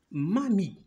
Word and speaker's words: mamie: E, c'est muet. Très bien. E est un graphème muet ou bien E muette. D'accord? Alors, voilà. Et on ne la prononce pas.